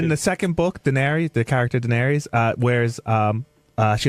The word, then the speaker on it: Daenerys: How do you pronounce it? Daenerys.